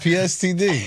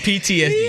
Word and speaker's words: PTSD: It's not PSTD? No. PTSD.